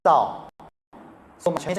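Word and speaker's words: 赵: In Chinese, we pronounce as Zhao.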